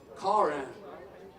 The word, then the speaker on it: Caughron: Rex earlier how he pronounced his name, and he said Caughron. It's spelled with a G-H.